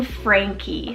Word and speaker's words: Frankie: so just like Scotty I have the name Frankie spell f-r-a-n-k-i-e Frankie now Frankie means like free